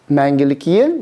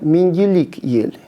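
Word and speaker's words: Мәңгілік Ел: Потому что перевернутую букву «е» произносят как а нужно ее произносить все-таки приближенно к звуку А. И немного вытянуть вперед язык, и даже можете постараться это сделать, то есть высунув язык, и вместо А у вас будет Это будет Менгелек.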